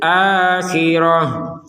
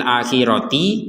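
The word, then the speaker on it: الآخرة: yang bulat ini huruf ta yang bulat ini kita bacanya ha kalau kita berhenti di sini jadi fil akhirati kita bacanya fil akhir tak menjadi huruf ha karena kita ber berhenti fil akhir berhenti Kalau digabungkan maka kembali terbaca sebagai huruf ta waahuil akhiratiihin nah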